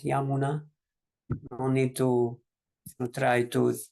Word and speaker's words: Yamuna: Some people also, because Prabhupada chanting, for example, during Radha Madhava, he would say Jamuna Tira Vanachari, which is again Bengali pronunciation. But mostly, if you're not Bengalis, we can chant Yamuna.